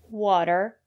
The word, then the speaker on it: water: say potatoes or flatten usually when the letter T is between vowels we pronounce the letter t as a fast the water better City and the reason is because the syllable after the letter T is not stressed water the first syllable